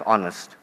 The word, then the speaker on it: honest: Because, it is silent in another very important word, and that's honest.